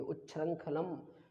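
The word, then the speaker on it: उच्छृंखलम्: जैसे समझ लीजिए कोई बच्चा है और यदि वो जो है ना उच्छृंखलम, इस शब्द का उच्चारण बहुत जरूरी है। उच्छृंखलम इंगा है, ये छा है, छा में रा लगा हुआ है, उच्छृंखलम।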